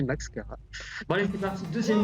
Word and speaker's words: Maxchara: J'ai bien prononcé Max Cara.